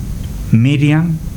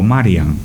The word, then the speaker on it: Miriam: lenguaje de la época María se pronunciaba Miriam o Marian los judíos prestaban mucha